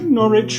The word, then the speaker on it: Norwich: the newcastle's new castle make norwich rhyme with porridge say grass as in